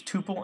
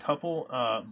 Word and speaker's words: tuple: short a so yeah I use tuple and tupple both entertaining or changeably with the goal being